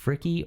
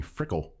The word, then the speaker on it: Fricke: so that's been the big question so far fricky or frick how do they know how do they pronounce it whatever you want it's freaky for real but didn't they we can kind